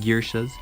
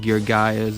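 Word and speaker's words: Geargia: deck trouble would be I like to pronounce it Gearshas. You can call it Gear Gaias or Gear Gears, however you want. I like Gearshas because that sounds dope as frick.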